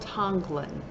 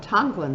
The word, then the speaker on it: tonglen: a practice that has been that is called tanglin and that's spelled t-o-n-g-l-e-n Tomlin is a mindfulness breathing transformational